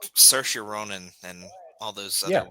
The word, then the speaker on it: Saoirse: I know it could be spelled Fergal, and he pronounces it like Jonathan. Yeah. Because I mean, I don't know how you get Saoirse.